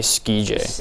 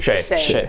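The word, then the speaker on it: Skjei: Brady Skij. Shea. Brady Shea. Really weird way to... I know. I always pronounce this Brady Skij.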